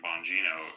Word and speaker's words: Bongino: the beginning, why would he ever appoint Dan Bongino?